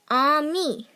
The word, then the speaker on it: ami: You say it like this, ami.